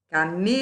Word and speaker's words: camelo: Camelo, igual a palhaço. Sílaba tônica penúltima, paroxítona. Tafetá, tafetá.